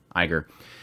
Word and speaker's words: Iger: call CEO Bob uh ignor said that was it ignorant somebody said that I said it wrong Iger I wrote down ignore